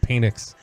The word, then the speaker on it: Penix: It's pronounced Penix.